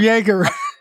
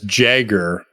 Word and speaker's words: Jaeger: that how was it he just says jagger like he reads his name but doesn't know the